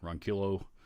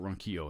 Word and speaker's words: Ronquillo: Ian Nunez says, check out RJ Ronquillo's channel, Ronquillo. I always want to pronounce it Ronquillo, and he actually pronounces it Ronquillo. I think is how he pronounces it.